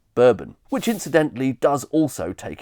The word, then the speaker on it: Bourbon: So, for a start, I suspect we should really be pronouncing the biscuit the French way, Bourbon, rather than the more typical way we do today, consistent with the American whiskey, Bourbon, which incidentally does also